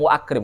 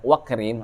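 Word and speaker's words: وَأَكْرِمْ: Cuman hamzahnya dihilangkan di situ, enggak diucapkan kan, enggak kita bilang wa akrim kan, wakrim.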